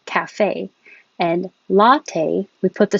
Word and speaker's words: cafe: a d literally and when we say cafe the stress is on the second syllable cafe and latte we put